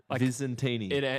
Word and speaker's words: Visentini: Visantini. ends with Martini.